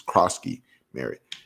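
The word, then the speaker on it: Croskey-Merritt: He's Kroski Merritt.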